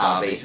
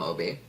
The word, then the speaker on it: Obi: do like that it's his name is spelled oh like Obi-Wan and that's how they all thought it was pronounced and he's like no it's Obby it's Obby I always want to